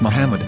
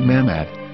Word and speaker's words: Muhammad: yehuda's Hebrew English dictionary it is correctly pronounced as Muhammad not mammad so how we're going